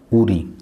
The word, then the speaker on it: উড়ি: তারপরে এই চিহ্নের নাম হল উড়ি। অনেকেই উচ্চারণ করেন উরানী চৈতন। কিন্তু এর শুদ্ধ উচ্চারণ হল উড়ি।